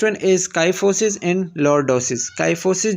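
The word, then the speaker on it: kyphosis: काइफोसिस जो है pronounced काइफोसिस the thoracic curve, मतलब जब सीने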